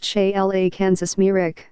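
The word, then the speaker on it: Šejla Kamerić: Sarajevo born soil a chimeric pronounced che la kansas mirek born 30 years after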